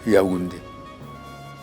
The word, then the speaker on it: Yaoundé: Mais, bon, le mot Ewondo, ils ont plutôt prononcé comme les gens de la côte disent Niawande, qui est devenu Yaoundé.